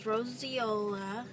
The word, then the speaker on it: roseola: Well, we just got out of the doctor, and Lachlan has roseola, which is the correct way to pronounce it, because that's how the doctor said it.